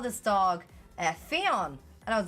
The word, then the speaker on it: Fionn: So I was like, it's pronounced Fionn. You've been calling that dog the wrong name the whole time.